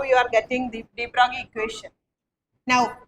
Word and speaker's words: de Broglie: You are writing de Broglie, but you have to pronounce it like de Broglie.